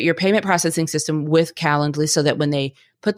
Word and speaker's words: Calendly: that you understand that I am saying calendly it's not spelled like calendar it's c a l